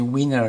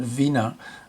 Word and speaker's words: Wiener: but weiner is actually weiner in the sense that he that's how he pronounced his name it wasn't vena which is the german term that was um translation